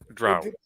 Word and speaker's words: drow: Drow. I used to always say drow, and then Mike, you muted. It's 100% drow.